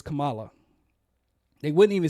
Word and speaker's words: Kamala: black and Indian, and they wouldn't even say her name right. Kamala. It's Kamala.